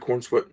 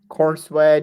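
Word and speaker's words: Corenswet: David Cornsweet. Cornsweet.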